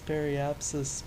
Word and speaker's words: periapsis: still it's like ah it's periapsis pronounce it right I'm sure just the